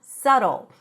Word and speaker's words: subtle: But we cannot miss the pronunciation of this word because the pronunciation is not subtle. There is no B and the T sounds like a very short D.